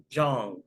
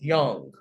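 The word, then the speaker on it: Jung: coined by psychologists call john but it's really pronounced young is spelled j-u-n but that is pronounced young carl young that refers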